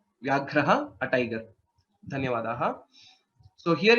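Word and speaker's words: व्याघ्रः: Vyagraha. Right. Vyagraha. Vyagraha, a tiger. Dhanyavadaha. So here, if you see in this, Vya is a Sanyuktaksharam. Similarly, Ghra is a Sanyuktaksharam along with the Mahaprana. Vyagraha is the right pronunciation.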